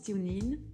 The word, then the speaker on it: TuneIn: radio les plus populaires avec tunis non ça se prononce timlin mon très cher kelly